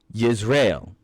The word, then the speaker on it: Jezreel: The first child born of this marriage was Jezreel, or as his Hebrew name is pronounced, Yisrael.